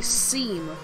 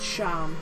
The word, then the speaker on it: Seam: I thought I was gonna say seam. But no. I heard that it's pronounced sham, don't worry.